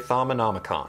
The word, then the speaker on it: Thaumonomicon: Okay, so anyway, before I was so rudely interrupted, this is a Thaumonomicon. It's actually very easy to pronounce. Thaumonomicon.